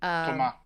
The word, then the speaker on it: Thomas: Thomas? Thomas. No S? Thomas. Silent.